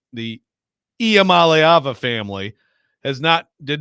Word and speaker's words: Iamaleava: I want to emphasize the second syllable. You do. Iamaleava is correct.